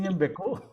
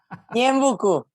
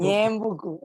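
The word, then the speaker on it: Ñeembucú: ¿Pronuncié bien Ñembecú? Ñembucú, Ñembecú, Ñembucú.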